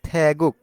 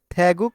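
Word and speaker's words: 태국: হয় থেগুক থেগুক তো গিয়ক বাচ্চিম যদি নিচে বসে তাহলে ক হয় আর যদি গিয়ক মাঝখানে বসে তাহলে সেটা কি হয় সেটা সবসময় গ হবে হবে গ আর গিয়ক যদি প্রথমে বসে তাহলে খ হবে তাহলে এই রুলস অনুযায়ী আমাদের কি হয়েছে থ্যাগুক থ্যাগুক অর্থাৎ থাইল্যান্ড আমাদের এখানে হেচ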